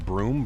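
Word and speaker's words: Broome: other Menace or Dan it's pronounced broom broom broom brome broom like sweep your sweep your room with the broom man this is going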